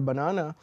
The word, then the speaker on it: banana: So you see for banana, the stress is on the second syllable, whereas in Panama, the stress is on the first syllable, okay?